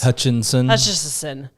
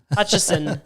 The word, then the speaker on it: Hutchison: It's better than used to be Hutchison, which is butchered in 100 different ways. Hutchinson. Hutchison. Hutchinson. Worcestershire sauce. How do you spell it? And then you get HUTCH, and then they're like, hold on, what? ESON. What? Is there no N? No, there's no additional N in there.